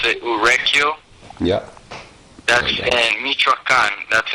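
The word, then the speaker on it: Urequio: e q u i o okay it's you pronounce it uru yeah that's in mitraan that's in the state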